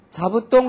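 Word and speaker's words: 座布団: 자부똥 할 때의 자는 사의 타금인 자지만은 그죠? 자가이모 할 때는 자입니다. 자부똥 자가이모 자. 그 발음을 잘 유의를 하면서 스스로 발음을 여러 번 해보세요.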